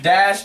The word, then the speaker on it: Dash: Dash, there you go. Rhymes with Flash.